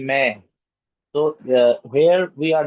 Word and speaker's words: मैं: We do not say man, we say meh. So here we are not pronouncing the full sound of noon. We are just pronouncing the last letter in nose, like making gunna.